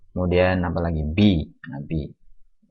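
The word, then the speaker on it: بِ: Nah, bi. Ini bacanya bi ya, bukan ba. Ini banyak hanya ejaan saja. Ba, maksudnya bi.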